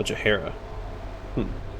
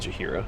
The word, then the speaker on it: Jahara: Oh, Jahara. I've been mispronouncing her name this whole time. I'm not going to stop saying Jahira. That's what I've called her for 20 years.